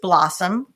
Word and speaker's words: blossom: And then it's incumbent upon the teacher to say, "Well, this word has a schwah at the end. It's pronounced blossom."